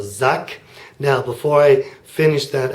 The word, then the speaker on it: sagt: that's just an A then we have a duck now that sounds like a K and I suppose it could be written with a cave but in this case it's written with a G a G at the end of a syllable might sound like a K at times it just depends and here it does so suck now before I finish